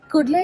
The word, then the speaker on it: Kudle: Kudle, if you don't know how to pronounce it, it sounds like cuddle.